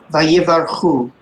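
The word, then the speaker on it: ויברכו: Can you give us that pronunciation kindly? Yes. Vayvarechu. Beautiful. Vayivarchu.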